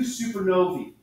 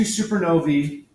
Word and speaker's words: supernovae: Okay, so here's some pictures of type 2 supernovae. That AE is pronounced E.